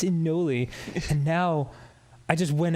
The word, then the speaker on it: anole: Also, I'd always heard it pronounced anole. I think you're right. It is anole.